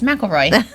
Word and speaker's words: McElroy: how many years and we still can't say her name right even in her exit we're like michael right nope it's mcelroy we probably you know